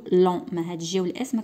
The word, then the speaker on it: longs: هاد جي والاس ديال لون ما كنطقوهمش، كنقولوا لون.